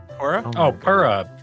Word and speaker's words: Purah: Purah. Purah.